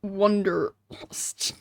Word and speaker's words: Wanderlust: He likes the island, but is filled with wanderlust. Well, I guess the proper German pronunciation would not be that. It would be Wanderlust.